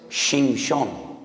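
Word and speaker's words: שמשון: Porque Sansón en hebreo es Shimshon. Shimshon. Ya sé que les causa risa, pero es que estoy pronunciando la palabra sol.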